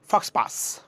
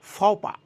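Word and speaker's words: faux pas: এটাকে একসাথে করলে হবে ফক্স পাস, ফক্স পাস, আসলে না, এটা হচ্ছে ফপা, ফপা।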